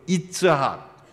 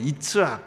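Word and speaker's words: יִצְחָק: 이 이삭이라는 단어는 히브리어 이츠학, 원 발음은 이츠학, 그 의성어예요.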